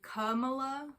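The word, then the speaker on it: Kamala: And actually I saw Samuel Bade say it's actually Camola. like kala is like the h sound for all of the vowels.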